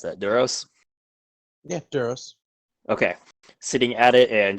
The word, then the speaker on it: Duros: notes uh this one would be a male Doros Doros Doros d r oos James how do you pronounce that Doros yeah duros okay sitting at it and just simple Brown